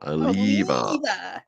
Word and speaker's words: Oliva: No, you got to drag out the E. Oh, Aliva.